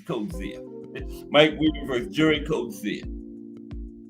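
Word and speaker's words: Coetzee: I used to say Coi, but Bruce Castia. I heard people say his name, but it was to me it was Code Zia. I mean Coi, but it's Cozia.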